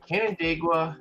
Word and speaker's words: Canandaigua: I'm gonna do my best to pronounce this. Canandaigua, New York.